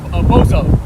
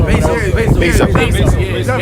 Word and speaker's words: Bezos: Bozo, Jeff Bozo. Bezos. Now he said it right, Bozo.